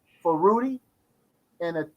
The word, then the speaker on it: Rudi: So I decided to go ahead, Rudi. That's how to pronounce his name.